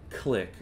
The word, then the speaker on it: Clique: to pair it with click click is another add-on it is spelled like CLI q-u-e and what that does